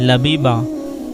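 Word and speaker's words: Labiba: लबीबा लबीबा की मानी है अकलमंद और इसकी स्पेलिंग है एल ए बी आई बी ए लबीबा नाम है गुलफशा गुलफशा की मानी है खिला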